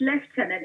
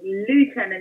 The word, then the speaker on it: lieutenant: It's pronounced lieutenant in the UK, yeah. And I think lieutenant is more an American pronunciation.